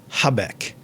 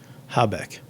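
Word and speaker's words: jabeque: know in our time the j is pronounced with the h sound right you can see how we we got here and um the name the word uh zbec in spanish is habek now j a b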